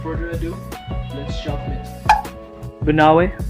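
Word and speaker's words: Banaue: Banawe, pronounced as Ba-na-we.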